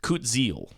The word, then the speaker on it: Kutzil: I can see here from this helpful Lost Caverns of Ixalan pronunciations image I got off Twitter that card is pronounced Kutzil.